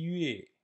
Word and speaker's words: 月: Attention, Yue à pas le prononcer Wei, c'est aussi une erreur courante chez les étudiants de chinois. On ne dit pas Wei, mais Yue, c'est un U, pas un OU.